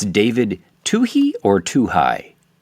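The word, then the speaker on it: Twohy: And is the director How you do pronounce his name? It's David Tuhi or Tuhai. Tui. Tui. Well, yeah. I mean, I was Tuh High the first time I saw this in the movie theater.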